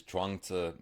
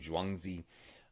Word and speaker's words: Zhuangzi: I learned it as Zhuangzi many years ago. Um the more common way now, which is I believe more accurate, is to pronounce his name Zhuangzi um or Zhuangzi.